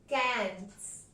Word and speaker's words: quinze: And 15 is pronounced as kanz.